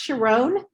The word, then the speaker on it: Sharón: my name it's pronounced sharon um like the song my mama my sharona without the a i'm sorry uh sharon